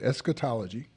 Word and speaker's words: Eschatology: Eschatology. Spell it, folks.